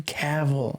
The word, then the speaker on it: Cavill: Henry Cavill. I think that's how you pronounce it.